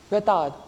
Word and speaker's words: retard: Don't pronounce the D. Retard.